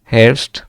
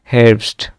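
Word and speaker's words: Herbst: August তারপরে ডিয়া হেরসড হারস মানে শরৎকাল এটা হচ্ছে সেপ্টেম্বর অক্টোবর আর নভেম্বর হারসড ঠিক আছে হারসড হারস না কিন্তু হারসড তারপরে ডিয়া ভিয়া ডিয়া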